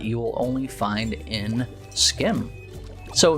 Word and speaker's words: SCHiM: SCHiM, and I'm told that this is the correct pronunciation, is a game about jumping from shadow to shadow in a relaxing and lively environment.